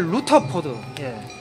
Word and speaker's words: 루터포드: 그래서 저는 그 사무엘 루터포드, 러드포드라기보다 루터포드에 반대하고요. 발음이 이게 더 루터포드.